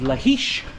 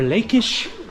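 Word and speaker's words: Lachish: had conquered the great city of lahish or lakish as we English speakers would pronounce it and so Kings and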